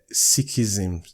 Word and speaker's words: Sikhism: guys i've just confirmed it's called six so it's sikhism sikhism the sixth okay